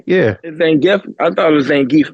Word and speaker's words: Zangief: The latest move I saw him do, the little hurricane Zangief backspin, like that was insane. That's how you say that, though? That's how you say that? Zangief? What? Zangief? Yeah. Zangief?